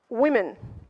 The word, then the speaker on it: women: Women. Вот это начинает читаться как и.